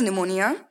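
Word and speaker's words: pneumonia: तो ये है निमोनिया, एंड निमोनिया की स्पेलिंग जो है वो पी से स्टार्ट होती है, बाकी तो ठीक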